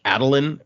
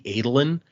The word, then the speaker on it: Adolin: Like there's hearing random names shouldn't be a spoiler for you guys, but there's a guy named like Adeline, or that's how I pronounce it, and it's supposed to be Adolin, and so like I'm gonna fix that.